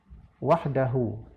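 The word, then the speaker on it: وحده: Wahdahu. Seharusnya pada hu itu panjang. Karena dilambangkan dengan angka 6 kecil atau dhammah terbalik.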